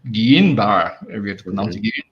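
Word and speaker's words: Guillain-Barré: but i do know i think it's pronounced guillain-barre disease not guillain-barre that's misspelled as well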